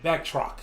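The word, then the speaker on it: Batroc: and back back how you say his name back truck yes thank you that's right they came they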